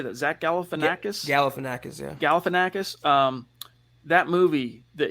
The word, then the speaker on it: Galifianakis: This profile pic that you're rocking now on Facebook, Mark, of is it Galifianakis? How do you say that? Zach Galifianakis? Galifianakis, yeah.